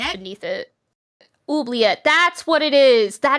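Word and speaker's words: oubliette: Uliet.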